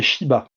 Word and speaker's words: Shiba: Et lui, son nom de famille, c'est Shiba, donc en 2 syllabes.